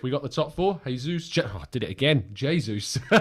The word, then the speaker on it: Jesus: morning to you tom that jesus uh is pronounced the portuguese way not jesus jesus uh in the spanish way thank you paul you